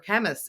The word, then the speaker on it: Kemmis: at the conventions chemists his chemist is the right way of pronouncing it chemist okay perfect I